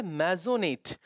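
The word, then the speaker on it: maisonette: इसको मेजोनॉट, सॉरी मेजोनेट। अब ये बीरे, प्रोनाउंसिएशन रिपीट करते हैं, फसाड, लिएजन, मेजोनेट, बीरे।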